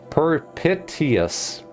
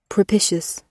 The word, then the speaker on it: propitious: Propitious. Propitious. Oh, it's like prop.